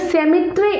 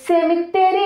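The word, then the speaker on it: cemetery: ശരിക്കും ഇതിൻ്റെ ഉച്ചാരണം സെമിട്രി ആണെങ്കിലും സാധാരണ നമ്മളൊക്കെ യൂസ് ചെയ്യുന്നത് സെമിത്തേരി എന്നാണ് നമ്മൾ പറയാറുള്ളത് അല്ലേ.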